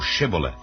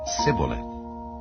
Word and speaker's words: Shibboleth: If he said, Nay, then said they unto him, Say now Shibboleth. And he said, Sibboleth, for he could not frame to pronounce it right.